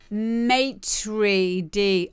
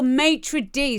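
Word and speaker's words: maître d': It's pronounced maitre d. Oh, maitre d.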